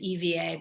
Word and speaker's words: Eva: Me Eva, which is EVA, but the Spanish pronounce it Eva. We say Eva.